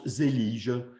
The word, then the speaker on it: Zellige: celio ce secteur et comment il faut le faire de prononcer cette fois ci je le prononce zellige qui est une petite